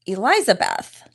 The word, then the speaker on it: Elizabeth: My name is Elizabeth, like the two names, Eliza and Beth, but kind of pushed together.